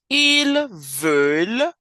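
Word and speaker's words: ils veulent: want V you want ilver with a silent ENT they want L they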